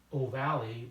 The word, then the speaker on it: ovale: lower jaw and that's the foramen ovale the pronounced ovalle that spelled avail but it's bird the opening